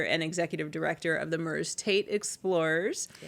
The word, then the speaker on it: Merze Tate: So, Merze Tate, people sometimes you see the name, you don't even know how to pronounce it. Some people say Merzy or Mert Tate. But Merze Tate was someone I learned about when I was a reporter at the Kalamazoo Gazette.